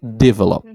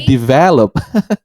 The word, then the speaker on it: develop: to pronounce this word I always say I put like a stress in the first syllable like develop uh develop it has to be develop so it's stressed in the second syllable in the second